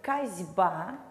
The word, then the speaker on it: косьба: звонкие парные согласные давайте рассмотрим пример слове косьба глухой находится перед звонким b&b влияет на все и